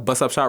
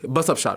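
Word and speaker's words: bussup shot: You have busup shot roti which you literally take it in a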